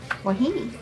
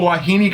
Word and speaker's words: Wahine: Wahine.